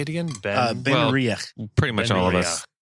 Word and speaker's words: Benriach: Ben Benriach.